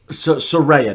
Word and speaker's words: Saraya: Saraya. Saraya, not Saraya. Saraya. Saraya. Yeah. You gotta fucking say it right.